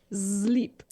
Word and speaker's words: slip: Slip, but of course they pronounce it sleep. Sleep. Sleep. But it's written slip.